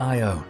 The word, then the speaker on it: Io: On Io (pronounced eye-o), the probe caught the Tvashtar volcano in action, capturing a volcanic eruption that reached 200 miles into space.